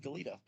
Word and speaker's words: Goleta: Or Goleta, that's how you say it.